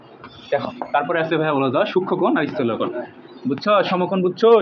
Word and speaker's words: সূক্ষ্মকোণ: এটা উচ্চারণ হবে সূক্ষ্মকোণ।